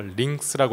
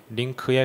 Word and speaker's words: Lync: 그리고 링크스라고 하시는 분들도 계시고. 근데 정확하게는 한글 표기는 링크고요. 미국 쪽에 그 원어민 발음으로 네이티브 스피커의 발음으로 들어봐도 링크에 가깝습니다.